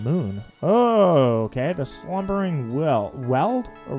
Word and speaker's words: Weald: The slumbering weld or wield? Weald. I know that there's a lot of names that I don't pronounce right.